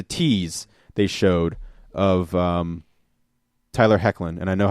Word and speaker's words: Hoechlin: okay say oh and before anyone else it's pronounced hoechlin I was like note to self so anyway